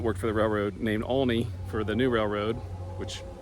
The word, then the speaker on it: Aulne: saw me and came over and said it's pronounced only a u l NE e only and uh